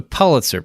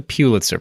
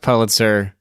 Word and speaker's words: Pulitzer: that throughout this podcast episode I'm going to mispronounce Pitzer because it's the Pitzer prize it's not the Pitzer prize even though the way the word is